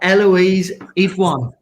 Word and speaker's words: Eloise Idoine: We've got Eloise Idoine. To pronounce that all right?